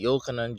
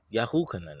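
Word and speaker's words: יהוחנן: Here, some say Yachanan with a W, Yachanan. Some say Yochanan, Yuchanan, but it's Yahuchanan actually, Yahoo.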